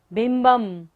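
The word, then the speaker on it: बिंबम्: बिंबम, ब के ऊपर बिंदी और बाद में क्या है? र। य र ल व होता है, तो बिंदी का उच्चारण क्या होता है? म।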